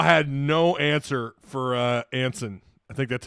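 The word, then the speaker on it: Eyanson: Arkansas had no answer for uh Anen. I think that's how you say his name. Yansen. It's pronounced or it's spelled E ya in sun. Yansen.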